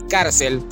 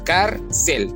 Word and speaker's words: cárcel: Carcel. Cel viene siendo nuestra última sílaba. No decimos carcel, porque si fuera carcel, entonces tendríamos la fuerza de voz en cel y eso la convertiría en una palabra aguda.